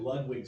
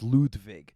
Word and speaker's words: Ludwig: so funny I mean technically the German pronunciations Ludwig but it's about as much Ludwig as it should be Ludwig right so for people